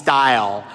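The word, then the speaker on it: Stijl: of art um called dyle uh which is a play on words playing off of the uh Dutch movement in modern art dyle uh spelled with a a j instead of style like a stylist uh s JL uh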